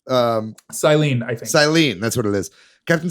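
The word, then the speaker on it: Cyllene: Captain Saya? How do you pronounce her name? Silene, I think. Silene, that's what it is.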